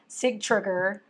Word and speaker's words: Sigtryggr: I don't know how to say his name because it's like Citric, but it's Sigtryggr.